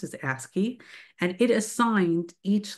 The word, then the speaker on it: ASCII: And the American standard for information interchange, which is called ASCII, you'll be hearing, you know, abbreviation, the way it is pronounced is ASCII, and it assigned each letter a binary code.